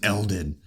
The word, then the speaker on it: Eldon: just in case but starts with an E and it ends and it rhymes with pelvin okay anyway easily decipherable my name was Eldon anyway anyway so he